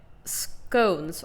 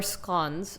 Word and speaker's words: scone: But scones or scones, some people pronounce it, they can be hit or miss.